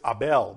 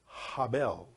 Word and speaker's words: Abel: The Bible says, in the relation says Abel, but really the pronunciation of that is Habel. And that name is hidden, the letter He in the beginning, which is translated as A, but it's really Habel, which means breath or steam or vapor.